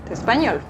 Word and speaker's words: espagnole: Donc ici, vous voyez que c'est la terminaison avec le L, donc on va juste ajouter un E qui ne va pas affecter la prononciation. Amalia est espagnole.